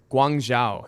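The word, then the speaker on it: Guangzhou: would totally check them out it's called uh guangzhao that's g-u-a-n-g-z-h-o-u and i bet you my pronunciation is spot-on but sounds like chinese puzzle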